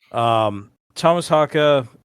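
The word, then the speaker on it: Tomas Haake: a lot of online discourse about how to pronounce his last name, and that's what he said. So, Thomas Haka, also known as the Atomic Clock, um, I've heard that before.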